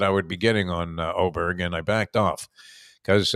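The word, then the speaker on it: Åberg: on lvic aberer it's it's pronounced oberg even though it looks like aberg yeah they got the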